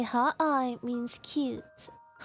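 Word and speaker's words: 可愛: Yeah, if you say hot eye, it means cute.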